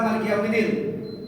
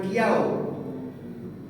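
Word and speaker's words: مَالِكِ يَوْمِ الدِّين: Nah, cara baca maliki yaumiddin. Maliki yaumiddin. Yaumiddin. Ki yau gitu. Ki yau, jangan kiau.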